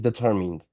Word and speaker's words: determined: No, okay, that word is determined, but you don't pronounce the letter E.